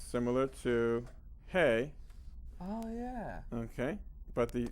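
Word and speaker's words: ה: And so when you say hey, it's like there's room for the air to go out, okay?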